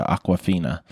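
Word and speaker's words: Awkwafina: name of water but this is spelled very differently it's spelled more like if you were to take the word awkward and turn it into Aquafina and she's she's actually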